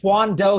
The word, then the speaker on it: Juan Doe: what what's happening guys juan doe here pronounced like the magic wand without the d representing sunny seattle washington